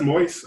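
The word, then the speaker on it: Moise: approved by uh by is actually pronounced moist i already just forget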